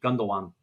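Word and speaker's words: Gündoğan: We bring in Ilkay Gundogan. I probably butchered the pronunciation. On a free Gundogan. Yeah, no, that's right. That's right, dude. Gundogan.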